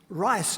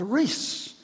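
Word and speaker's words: Rhys: Or if your name is Rice, R-H-Y-S, he will say, no, it's Reese.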